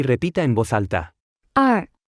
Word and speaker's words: 二: 二，二，二，二，二，二，二。 Se pronuncia con el cuarto tono.